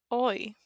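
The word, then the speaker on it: hoy: Oi. Again, the H is silent.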